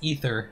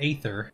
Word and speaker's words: aether: no doubt okay so let's pronounce ether not aether interesting i hadn't considered the